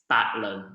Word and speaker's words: Paklin: So my full name is Paklin, and it's Batlin, which means hundreds of spins.